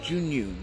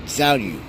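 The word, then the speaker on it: Zhiyun: It's pronounced Junyun, not Zhaoyu.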